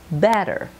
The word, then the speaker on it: better: sand tap better now notice on better the two T's make a soft D better not but but better